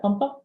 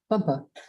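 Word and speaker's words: FMPA: And this How'd you say that? Pumpa? FUMPA. That's how you say it, FUMPA. It's an acronym, you know, we live by that.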